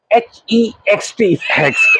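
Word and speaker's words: Hoechst: हुआ था ये, जिसपे लिखा था वी प्रोनाउंस इट HEXT। जी जी तब से मुझे याद था कि ये हेक्स्ट कहते हैं जी, दुरुस्त।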